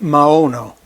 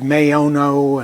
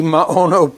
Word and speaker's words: Maono: and I'm smiling because I call it Maono. Um I have no idea how you're going to pronounce it. I've heard Mayono and a few other approaches. I take the Latin language approach, short A long O, Maono.